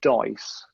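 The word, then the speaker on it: Deiss: So Ryan Dice, which someone told me the other day is pronounced Dice.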